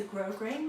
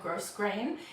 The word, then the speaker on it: grosgrain: last week it's a grosgrain ribbon i know how to pronounce that word now thank you to everyone who corrected me last time i said gross grain it's grosgrain and it's kind of got